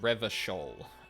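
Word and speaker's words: Revachol: reading Pass Time quicker reverol is pronounced Revol uh uh or or and classier I'm glad they actually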